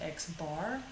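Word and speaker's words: x̄: over it that's the mean or average it's pronounced x bar we're going to use just the letter m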